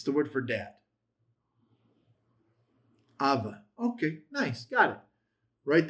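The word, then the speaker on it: אבא: Abba. It's the word for dad. Abba.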